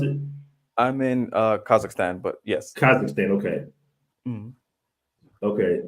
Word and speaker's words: Kazakhstan: and and and right now you're currently in kazakistan is that how you pronounce it I'm in uh Kazakhstan but yes Kazakhstan okay okay interesting man and